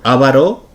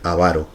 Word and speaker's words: avaro: también entre estudiantes no avaro con tilde la que es incorrecto lo correcto sería avaro el ejemplo incorrecto que